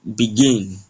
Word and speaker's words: begin: There is a stress on the first syllable. Going on to the second example which says begin.